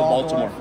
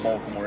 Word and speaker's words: Baltimore: in the middle of Baltimore is you got to learn how to say it right Balmer Balmer oh yeah that's exactly what